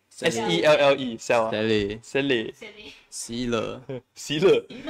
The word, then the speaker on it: Selle: Cell, how do you pronounce Cell or Selle? S-E-L-L-E, Cell.